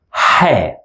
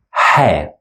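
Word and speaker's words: ح: from any dots and we pronounce it as hair it's one of the third sounds and it's coming out from the middle throat to be specific hair now this sound used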